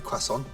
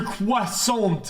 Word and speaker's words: croissant: It's a croissant. What the fuck is that? It's not a fish, dude. Literally 30 seconds on the grill. Here we go. The T is silent. There's no W.